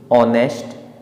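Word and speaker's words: honest: और यहाँ भी ओ से पहले एच साइलेंट हो जाता है। तो हमारे पास 3 वर्ड दिए हुए हैं, ऑनेस्ट, आर, ऑनरेबल। तो इसमें भी एच साइलेंट हो जाते क्योंकि ओ से पहले आ रहा है।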